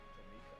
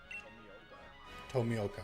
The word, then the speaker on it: Tomioka: I like Tomika, or how do you pronounce his name? Tomioka.